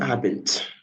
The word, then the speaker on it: Abend: When you see the D there, it's not pronounced like Guten Abend. Like Guten Abend. The D there sounds like letter T. Guten Abend.